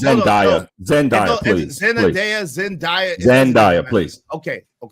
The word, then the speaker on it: Zendaya: The number thing is you said Zendaya, right? Zendaya is 27 years old. I hate to interrupt, but it's Zendaya.